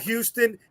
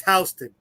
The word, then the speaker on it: Houston: things our own way it's not Houston it's Houston okay I'll do this all